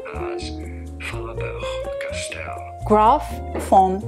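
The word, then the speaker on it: Faber-Castell: It is pronounced as Faber Castell. Graf foam Faber Castell perfect pencil.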